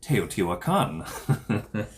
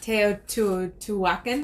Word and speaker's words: Teotihuacan: Pronunciation lesson if you need, Teotihuacan. Not Teotihuacan. Teotihuacan, I think, is what I hear a lot.